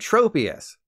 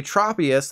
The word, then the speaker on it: Tropius: this Pokemon was called Tropius I'll take the L on this one it's obviously Tropius like tropical to quickly make you